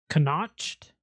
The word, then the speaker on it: Connacht: Give me Munster then, because if you can't pronounce it, you can't afford it. It's CONNACHT.